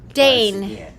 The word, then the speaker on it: deign: up in a thesaurus it's Dame Dane with an n ism right but it's not spelled the same way but yeah it's d-e-i-g-n